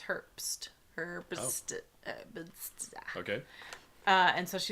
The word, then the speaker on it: Herbst: No, it's Herbst.